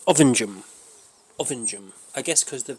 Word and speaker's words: Ovingham: See, I would pronounce it Ovingham. Ovingham Ovingham allegedly suspectedly They pronounce it around here Ovingham. Ovingham.